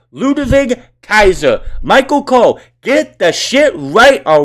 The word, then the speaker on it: Ludwig Kaiser: in this match alone it's ludwig kaiser not ludwig or ludwig it's ludavig kaiser michael cole get the